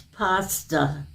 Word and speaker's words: pasta: or is it pasta It's pasta are you sure now I'm positive it's pasta I'm positive that's where your a is pronounced okay ah so it